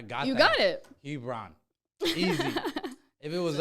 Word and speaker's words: Hebron: my name i'm like it's like lebron but with an h hebron that's been my go-to